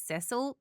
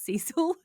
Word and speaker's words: Cecil: And and I apologize cuz we refer to it as Ceil, but I understand you guys pronounce it as Cecil.